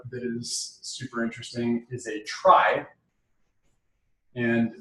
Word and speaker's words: trie: might check out is super interesting is a try and it's spelled kind of funny it's tr-5 year and